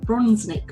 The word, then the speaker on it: Bronsnick: Hello and welcome back to another episode of Victorious FM, where I'm really delighted to introduce today Bronsnick onto the show. Have I pronounced your name correctly, first of all?